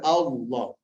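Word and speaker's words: الله: Allah ini sudah cara bacanya ada dua. Ya, kalau dia kasrah menjadi tipis milah. Kalau seandainya dhammah sama fathah mullah. Allah. Tebal ya, Allah. Bukan Allah tadi ya.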